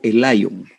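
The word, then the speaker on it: Elyon: al abrigo del altísimo hebreo elon o el león pero a veces en las pronunciaciones como no somos expertos en estos idiomas antiguos pero nos hemos acostumbrado entre nosotros a llamarle Lion tal vez no es la pronunciación más exacta pero eh casi literalmente es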